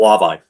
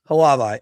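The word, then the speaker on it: Hlavaj: How do you pronounce the goalie's name? Samuel Halavai. Halavai.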